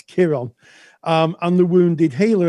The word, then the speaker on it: Chiron: Spel it's spelled with a K, but it's pronounced it's spelled with a C, sorry, but it's pronounced with a K. It's Kiron.